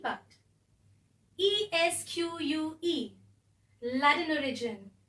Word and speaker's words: esque: by adding the suffix e s q u e pronounced as esque last one ID I'll